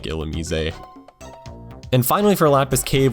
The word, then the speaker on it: Illumise: a lot of really odd ones like this illumise and yes it is pronounced illumise that is what the anime says and Pokedex 3D uh it's also its Japanese name so it is illumise it's a pure bug type it has a